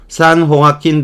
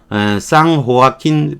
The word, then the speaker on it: San Joaquin: San Joaquin Valley. 스페인어로 J는 H로 발음을 하는 거니까 San Joaquin Valley, San Joaquin 계곡의 밑바닥, 바닥 이게 유일한 아래쪽인 거죠.